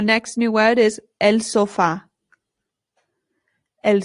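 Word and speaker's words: sofá: In English, we put the stress on the O and we say sofa. But in Spanish, the stress goes on the A.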